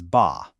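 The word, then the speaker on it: 八: Because the Mandarin pronunciation of the number eight is ba.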